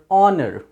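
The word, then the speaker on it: honour: अवर जैसे ह ओ एन ओ यू आर ऑनर नॉट ऑनर ऑनर क्योंकि यहां पर ओ से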